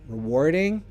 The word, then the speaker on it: rewarding: we think rewarding so also pronunciation if you want American English rewarding rewarding they have to war ding British English no rewarding for a war ding rewarding and stress on war rewarding ok what do we